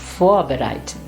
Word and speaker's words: vorbereiten: Or even in this prefix, it is vorbereiten, and not vorbereiten, no, vorbereiten.